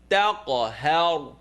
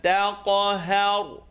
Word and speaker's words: تَقْهَرْ: فَأَمَّا الْيَتِيمَ فَلَا تَقْهَرْ. فَأَمَّا الْيَتِيمَ فَلَا تَقْهَرْ. I know you're hearing it. Ha with the line on the top followed by ra sukoon. It's heavy. How.